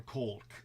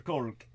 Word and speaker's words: Kolk: By the way, Deanna Fraser lets us know that Bezel van der Kolk is who you were. Yes. Thank you. Yes. Try spelling it. Kolk. Spell it if you're going to say it.